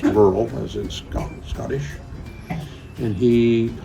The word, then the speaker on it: Burrell: Originally his family is from Scotland, and so what looks to be Burrell is pronounced Burrell, as in Scottish.